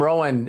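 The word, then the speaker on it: Rohn: you with the Jim Rowan story because I love it where Earl Scha his mentor and his name is spelled R O H N. And Jim Rowan had one of his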